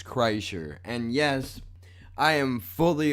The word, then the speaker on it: Kreischer: right there was Kreischer the proper way to pronounce the man's last name is Kreischer and yes I am